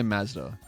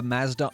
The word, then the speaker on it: Mazda: We say Mazda. A Mazda RX-7, if you will.